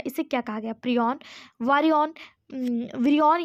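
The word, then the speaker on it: prion: इसे प्रयन कहा गया। ऑप्शन ए इसका सही जवाब। कहीं-कहीं प्रयन लिखा रहता है। कहीं-कहीं प्रयन लिखा रहता है। ठीक है? सही उच्चारण करें तो ये प्रयॉन है।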